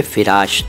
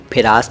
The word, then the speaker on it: फ़िराश: तो पहले मैंने साहिब फ़िराश बोला था, फिरास नहीं बोला था, फ़िराश था, फ़िराश।